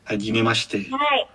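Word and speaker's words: はじめまして: Jadi mungkin agak diperhalus aja untuk shi-nya. Gak apa, untuk kita kan lagi belajar, nanti pelan-pelan akan terbiasa. Hajime Mashite. Hai, seperti itu. Hajime Mashite, jadi lebih nggak terlalu jelas sh-nya gitu.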